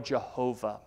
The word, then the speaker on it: Jehovah: hebrew name of god usually pronounced yahweh or jehovah this is the covenant